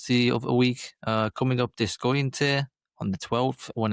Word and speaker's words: Deceuninck: Yeah, I'll just slightly correct that pronunciation. It's Deceuninck.